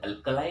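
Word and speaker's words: alkali: Group 2 जो है, ये ग्रुप 1 को हम बोलते हैं अल्कलाई मेटल्स, अल्कली मेटल्स जो बोलते हैं, प्रोनाउंसिएशन अलग अलग होता है, अल्कली मेटल्स या अल्कलाई मेटल्स।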